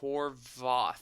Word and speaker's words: Horvath: see it yeah this Xander Horvath he's pronounced Horath I mean he kind